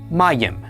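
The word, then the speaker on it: מים: The maim is pronounced m. The pat is a. The yod is y. The khik is i. And the final mamm is m. Altogether this is pronounced mim. Mayim.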